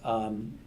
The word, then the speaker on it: Sean: Sean McDowell has that. He has a podcast out of Biola, but his YouTube channel, so it's spelt in the Irish way, SEAN, Sean McDowell.